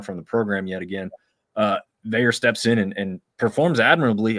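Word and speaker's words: Veilleux: Shout out to Christian Veyer, which is, again, the weirdest last name to pronounce with the way it looks. It's French Canadian. Not how it looks.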